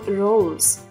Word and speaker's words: Rose: важкий де це Зверніть увагу на слова No та Rose коли літера і стоїть в кінці слова вона не читається звуть її ще німою і ніс rроoseз